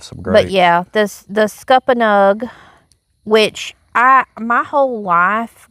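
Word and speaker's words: scuppernong: whole life growing up, I didn't call that a scuppa nug. I called it a scuppa nun because that's what I've always called it. Yeah, because that's we're just pronouncing it right because we're on the live stream. Yeah, we're we're being um correct.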